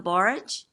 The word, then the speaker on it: borage: I planted some borage. Is that how you say it? Forage, yeah.